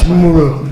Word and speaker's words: Shmuel: How do you say it? Okay, it's Shmuel. Okay.